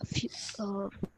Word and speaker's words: fünf: Okay, UE is U umlaut, Yeah, so it is the sound of U. yeah, fünf, Yeah, sechs, sechs, sechs, okay, sechs, sieben, yeah, acht, neun, neun, zehn, oi.